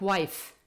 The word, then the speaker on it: wife: F or f e but of course that e at the end of the world being a silent e the one that we don't pronounce for example like wife so we basically write an e at the end but we don't pronounce it the last sound that we hear is f those words in majority